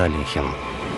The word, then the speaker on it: Алехин: этим господин был чемпион мира по шахматам александр алехин и минут до как правильно произносится его фамилия внезапная смерть шахматного